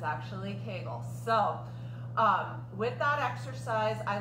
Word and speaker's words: Kegel: I learned recently that Kegel rhymes with bagel so I always said Kegel but it's actually kegels so with that exercise